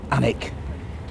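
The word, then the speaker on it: Alnwick: Saxon word for Homestead or Farmstead it's obviously pronounced anic it was originally given to the dichi family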